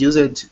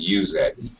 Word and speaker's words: used: Let's catch up is used only if someone is gossip. First of all, is used, not use it, but used. Zach? Use it. No, not 2 syllables. 1 syllable, 1 sound, 1 vowel sound.